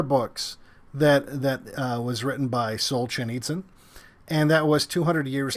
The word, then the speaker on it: Solzhenitsyn: him a book by Solzhenitsyn, which Rebecca taught me how to say properly before the stream. Yeah, he has it spelled out phonetically. Yeah. Solzhen eats with a Z.